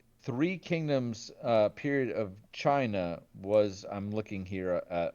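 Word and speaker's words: Qin: But it was uh before the the Quinn Dynasty, which I'm not pronouncing these with a Chinese uh dialect, and I apologize. I just Chin. Thank you.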